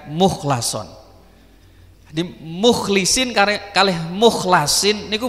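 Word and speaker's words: مُخْلَصًا: Terus kata mukhlason itu memang ada yang membaca mukhlison, tapi mayoritas ulama membacanya dengan mukhlason.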